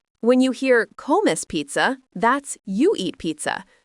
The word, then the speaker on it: come: Let's look at this with another verb, comer, pronounced co-mer, means to eat.